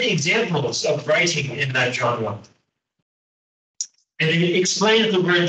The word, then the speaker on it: genre: genre one day uh this word is from French so uh pronunciation is very strange it's genre it's not genre uh regardless of genres